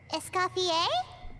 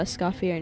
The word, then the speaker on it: Escoffier: Still thinking about how Escoffier name in the end's pronounced A instead of ear.